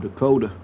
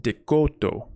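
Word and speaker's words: DeCoteau: Thought it was pronounced Caleb Dakota. But the name is actually mispronounced by everyone else as well. Assuming it's a French name, it should be pronounced Decoto, which means hillside or of the hillside in French.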